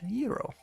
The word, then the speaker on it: gyro: other places that is euro." And then we just use the word and mix it in with our own because that's the American language. I'm gonna start pronunci pronunciating it correctly. Euro.